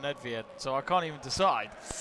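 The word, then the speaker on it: Nedvěd: pavel nedvied i i prefer to call nedvied some of them come and call them ned fed which to be honest you can't call them that i think i'm sure that's how you can pronounce it but i remember years ago when ned fed was a footballer so i've just called him nedved when i just said i call him nedviad so i can't even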